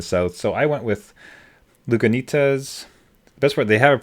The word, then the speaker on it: Lagunitas: I was worried that the G was silent, like Spanish. Right. Lagunitas, but it's not. Lagunitas, so be it.